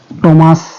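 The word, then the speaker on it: Thames: আবার কখনো কখনো এই টিএস কিন্তু টর মতো উচ্চারণ হয়েছে। টিএস কার কিসের মতো উচ্চারণ হয়েছে? টর মতো। যেমন টমাস, টেমস, টেমস মানে হচ্ছে টেমস নদী, টমাস কোনো ব্যক্তির নাম।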